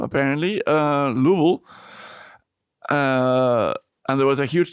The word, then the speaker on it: Louisville: I've learned to pronounce that. Not Louisville, apparently. Louisville.